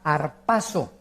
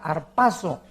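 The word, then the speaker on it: ἁρπάζω: les interese apuntarla es la palabra griega harpazo con z harpazo que significa ser sacado o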